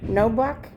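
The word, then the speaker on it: Knoblauch: If you want my name is Court Security Officer Nobla. That's Thank my you. name. No buck? Yes, it is. How do I spell that?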